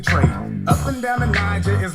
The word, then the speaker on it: Niger: Come on, let me take you to a river, Niger. Soft G like Jay in pajama.